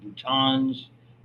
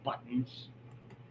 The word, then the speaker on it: boutons: And whether you want to call them terminal branches or axonal terminals or terminal boutons, that's how you would pronounce that rather than buttons.